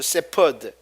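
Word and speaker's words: shepherd: 목자가 영어로 세퍼드, 한국 발음으로 세파트예요. 좀 우아하게 발음하는 세퍼드, 목자예요.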